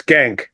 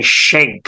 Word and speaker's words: Schenck: guys thank you so much let's start with pronunciation it's skank I was gonna say I bet you I'm